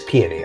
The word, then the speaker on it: Peony: you know it is peony i want to confirm this because the flower is pronounced peony and that's where she's named after oh peony that makes